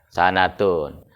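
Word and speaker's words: سَنَةٌ: Ente mau baca sinnya patah, boleh nggak? Jadi apa bacanya? Sanatun.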